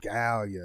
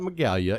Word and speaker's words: Medallia: Medallia. Not Megalia, it's Medallia. The G is silent. Medallia. Yeah. But there's a G in there. Yes, there is a G, but it's silent.